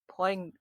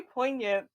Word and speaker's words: poignant: It was like very like poant. How do you pronounce that? Poant. Poant. Yeah, that it was very poignant and it stuck with me for a while.